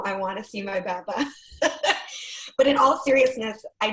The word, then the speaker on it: بعبع: بعبع. So it's بعبع. Bob-ayin, but I think it's really hard to find the English equivalent for ayin.